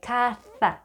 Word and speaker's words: caza: people from Spain do, you want to pronounce it the way you would pronounce TH in think, like caza.